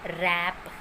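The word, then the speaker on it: wrap: डब्ल्यू, जब भी कोई वर्ड डब्ल्यू आर से शुरू हो, जब भी कोई भी वर्ड डब्ल्यू आर से शुरू होता है, डब्ल्यू वहाँ पर साइलेंट रहता है, मतलब डब्ल्यू आर के साथ साइलेंट रहता है, बट वो वर्ड डब्ल्यू आर से शुरू होना चाहिए।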